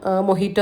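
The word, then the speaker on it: mojito: ഞാൻ എന്താ പറയു നമ്മുടെ മൊജീറ്റോ ഇല്ലേ മൊജീറ്റോ മൊഹീറ്റോ എന്നൊക്കെ പറയുംട്ടോ അതിന്റെ ഉച്ചാരണം മൊഹീറ്റോ എന്ന് തന്നെയാണ് നമ്മൾ മൊജീറ്റോ എന്ന് പറയും അങ്ങനെ അപ്പ ഇതാ അതൊന്ന്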